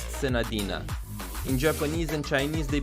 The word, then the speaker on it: Senadina: name pronounced sadina or Sadia in English is pronounced sadina in Japanese and Chinese they pronounce it Sadia but in English it's sadina do singles until I get a character okay